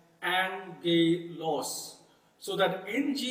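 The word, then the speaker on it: ἄγγελος: So it will not pronounce as aggelos, but it would rather pronounce as angelos.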